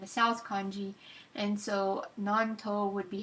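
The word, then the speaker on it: 南東: east kanji and a south kanji, and so nanto would be how to pronounce it. You can have it pronouncing. I'm going to click on it. Nanto.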